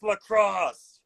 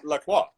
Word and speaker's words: La Croix: It's lacrosse. No, I'm saying it right. I'm going to stand by that. I'm going to die on this hill. It's La Croix.